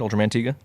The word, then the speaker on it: Ultraman Tiga: that right that is how you say it Ultraman Tiga uh alongside various other children shows and cartoons